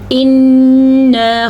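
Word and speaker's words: إِنَّا: غنہ کرنا ضروری ہے۔ اِنَّا خَلَقْنَا الْإِنسَانَ مِن نُطْفَةٍ أَمْشَاجٍ، أمشاج نبتليه فجعلناه سميعا بصيرا. اچھا جی، انا نون کا غنہ بھی ادا کرنا ہے اور الف مدہ بھی ادا کرنا ہے.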